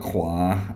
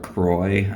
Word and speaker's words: Croix: And I call it Croix, which is the French pronunciation. Some people call it Croix, which is more the Americanized way.